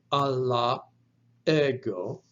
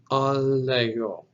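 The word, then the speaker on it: ἀλλ' ἐγώ: But in Greek, what will happen is that alpha will simply drop out, replaced with an apostrophe, and it's pronounced together as one word, allego, allego. So instead of Allah ego, you have allego.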